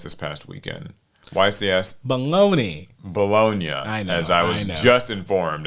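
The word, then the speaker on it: Bologna: people are talking about I had to go to Wikipedia and have it tell me how it's pronounced I'm not cultured um Italian but I saying is it is bolognia and congratulations to Joshua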